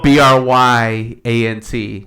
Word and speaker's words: Bryant: Everybody's been saying it wrong this whole time. Oh. Bryant, like Kobe.